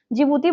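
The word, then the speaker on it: Djibouti: जिबूती बोलते हैं पर डी से शुरू होता है। डी साइलेंट होता है।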